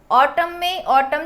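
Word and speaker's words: autumn: ऑटम जो महीना होता है इसमें हम एन को नहीं कर रहे हैं तो एन यहाँ पे क्या हो जाएगा, साइलेंट वर्ड.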